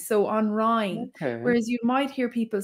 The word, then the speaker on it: Rinne: So one thing about ring Irish is the pronunciation of the I's. So on Rhine, whereas you might hear people say Rinne, Gaeilge na Rinne, which is fine on Rhine.